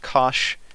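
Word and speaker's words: cosh: H on the end and they're pronounced Kosh and cinch and I've just defined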